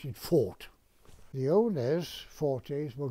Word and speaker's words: Forte: all about of course we didn't pronounce it 40 we pronounced it fought the owners four days were going to give